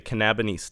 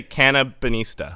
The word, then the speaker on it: Cannabinista: cannabis game Anna the canaba did I get that pronunciation right no Kaa bonista right Cana bonista yeah can bista yeah I'm just gonna say Cana bonista yes that's perfect Anna the canaba [